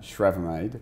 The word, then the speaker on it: Schravemade: How do I pronounce that? Schravemade. Schravemade?